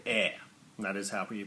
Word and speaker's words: EIR: we're kick starting this month in November called air that is how're you pronounce it now air is a one-shot all-ages